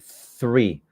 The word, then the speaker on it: three: the sound of th you get your teeth and your tongue and you want to say three remember that okay but